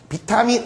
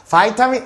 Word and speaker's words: vitamin: 그 안에 비타민 A, 보통 이제 비타민이나 바이타민이라고 발음합니다. 바이타민 A를 가지고 있는 쌀을 생산함으로써.